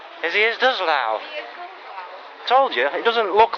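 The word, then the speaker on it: Hviezdoslav: Hviezdovslav. Hviezdovslav.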